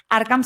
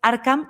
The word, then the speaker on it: Arkham: Arcam se escribe A-R-K-H-A-M y así les dices que vienes de parte de Chisme Corporativo. Arcam, de datos fragmentados a decisiones con inteligencia artificial.